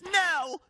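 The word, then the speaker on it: Knell: Turns out her name isn't Nell, it's Nell. Nell, a slowly ringing bell? Who names their dog after a bell? That silent K messed everything up.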